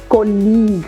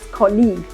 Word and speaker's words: colleague: what about this one colleague right we don't pronounce it colleag yes or maybe anything else we pronounce it as colleague this one is catalogi